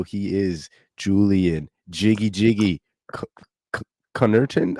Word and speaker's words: Connerton: in the title he is Julian Jiggy Jiggy Connerton how do you say the last name boss Connerton Connerton my fault I didn't want to [ __